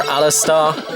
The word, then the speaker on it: Aleste: But just want to show you guys a little bit of a look at Aleste here, or Aleste as it's pronounced here in Japan.